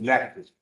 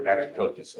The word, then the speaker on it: Natchitoches: I've been mispronouncing I county. know, it's Natchitoches. The one that you were Natchitoches, Natchitoches.